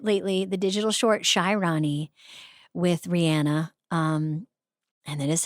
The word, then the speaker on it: Rihanna: It's just, if you haven't watched it lately, the digital shorty with Rihanna. Um, and that is how she pronounces her name.